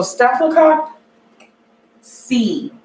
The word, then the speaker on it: Staphylococcus: So Staphylococcus C. It's pronounced cock C, not cock.